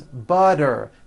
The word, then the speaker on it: butter: Remember, all the T's are pronounced as D's because they fall between vowels.